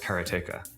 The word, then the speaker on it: Karateka: In Japanese, there's no stress on any syllable, so it would be Karateka, something like that. Suena muy piola en japonés. Karateka. I called it Karateka, but I've since found